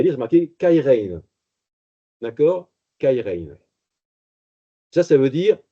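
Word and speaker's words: χαίρειν: Mais ce qui est sûr, c'est qu'il va changer un mot qui s'écrit C-H-A-I-R-E-I-N, c'est le mot qu'on a en grec, kairein, et il va prendre un mot qui ressemble beaucoup.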